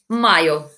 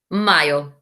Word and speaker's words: mayo: Mayo. Mayo. So what we've done is we've added an O on the end. Mayo. Listen to the pronunciation. We don't say mayo, we say mayo.